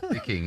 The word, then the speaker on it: Viking: Vicking. Yeah. Well, a lot of people think I pronounced that wrong, but I haven't.